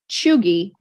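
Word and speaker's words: cheugy: So it's pronounced like chew, CHEW, and then GEE. So it's pronounced chuggy, and it's been around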